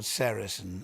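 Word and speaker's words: sericin: One of them is called sarasin. A very important one. You spell that s e r i c i n.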